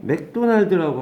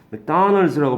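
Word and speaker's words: McDonald's: 그래서 맥도날드라고 발음하고요. 발음은 맥도날드. 다를 크게 쓰죠. 다널즈가 됩니다. 맥도날드가 됩니다. 그래서 예, 이거는 원래 뜻은 네.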